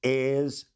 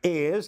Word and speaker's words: heirs: It's very obvious that she clearly tries to mispronounce or not read correctly the words heirs and successors. Now, heirs doesn't have an H in it, but clearly you heard her doing that.